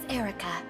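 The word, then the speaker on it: Eirika: My name is Erica. Erica! So the I is just superfluous.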